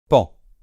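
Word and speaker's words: paon: C'est comme s'il n'y avait pas de O. Et donc, on prononce bien évidemment pan, d'accord ?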